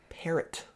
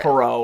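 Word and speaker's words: Perrot: then you have Kim parrot parrot yes spelled p e r r o t okay but I like listened I'm pretty sure it's pronounced it's not like pero or anything no I don't think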